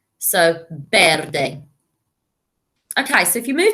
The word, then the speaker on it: verde: mics are yo and the v in spain is pronounced like a b so verde okay so if you